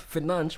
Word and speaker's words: Fernandes: Bruno said that people who say Financh think they get his name right. He's It's not? annoyed. It's not? Yeah, it's Financh, but there's a way they say it in Portuguese.